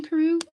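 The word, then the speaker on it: Karou: You asked about how I pronounce Karu. And it's funny because you spell it the Japanese way, Kaoru, but I made up the name Karu, sort of.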